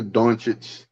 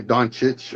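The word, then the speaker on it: Dončić: Yeah, because I was getting slandered because I would say Doncic or I forgot how I used to say it, but now I say it correctly, Doncic.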